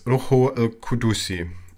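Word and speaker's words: روح القدس: Holy Spirit in Arabic is pronounced as Ruhu al-Qudusi.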